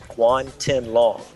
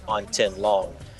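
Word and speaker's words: Guan Tianlang: name, and it is Guan Tin Long. You got to get it right now. I do. It's opposite of the way it's spelled.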